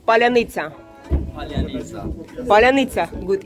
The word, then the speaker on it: паляниця: А can you pronounce паляниця?